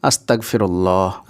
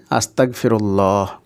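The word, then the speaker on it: أستغفر الله: বাক্যের শেষ করবেন তো শেষে যেটাই থাকুক না কেন সেটা সাকিনে পরিণত হবে। অর্থাৎ হাই এর উপরে যাবার জের, পেশ যাই থাকুক না কেন সেটা কিন্তু সাকিন হয়ে যাবে। তাই এটার উচ্চারণ হবে আস্তাগফিরুল্লাহ।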